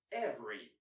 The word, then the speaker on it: every: Every, or less commonly, every, typically, or less commonly, typically.